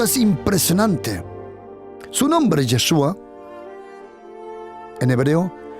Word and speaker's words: Yeshua: impresionante su nombre es yeshua en hebreo o mejor dicho jeshua porque así se pronuncia yeshua es un disminutivo